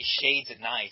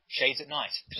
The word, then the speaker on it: ShadesAtKnight: No, not night. It's night. That's how Americans say it. I love my shades at night. I said what? It's a thick Cockney accent. You gotta do the pursy lips, talking to the back of the throat, you can talk like Michael Caine.